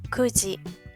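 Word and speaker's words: 九時: Siguiente cambio, igual que 7, el número 9 tiene dos pronunciaciones. Kyu, que es la normal, y ku. Entonces para esta utilizamos pronunciación ku, kuji.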